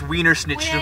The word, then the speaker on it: Wiener Schnitzel: It's pronounced Weiner schnitzel. Wiener? It's Wiener Schnitzel.